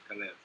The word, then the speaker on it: Calev: pronouncing it right yeah it's cev calev c a l e v cev okay yeah look